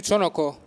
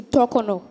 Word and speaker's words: Tokono: Get you Tokono. You are correct, Joy. Your syllables were in the wrong place. To-ko-no, not to-no-ko.